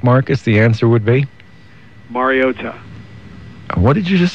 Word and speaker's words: Mariota: When you released the information, the accent that was put on the phonetic spelling was on the last syllable. Mariota. On the ta. Mariota. And it's if you ask Marcus, he'll explain it. There is emphasis on the ta. It's just not as much as was made out on the ESPN broadcast.